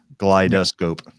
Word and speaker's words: GlideScope: Mine is trying to make glidescope into a 3-syllable word. Glidescope. Is that how it's supposed to be pronounced? No. It's no. Okay. 2 syllables, glidescope.